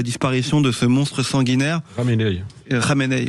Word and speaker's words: Khamenei: Khamenei. Vous avez raison, c'est comme ça que ça se prononce.